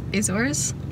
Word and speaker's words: Azores: dictator running the country is that how it's pronounced is azores yeah it's not a chore it's so hard to